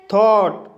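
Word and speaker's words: thought: थॉट, थॉट शब्द में ओ यू के बाद जी एच आया है, इसलिए जी एच साइलेंट रहेगा, इसलिए इसे थॉट पढ़ा जाता है।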